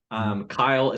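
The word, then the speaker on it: Cyle: Kyle, so it's spelled C-Y-L-E, so spelt a little bit different.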